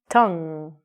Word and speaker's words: tongue: Don't forget the U and the E.